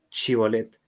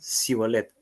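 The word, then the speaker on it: Shibolet: Entonces le decían, "Ahora pues di chibolet." Y ellos decían cibolet porque no podían pronunciarlo correctamente.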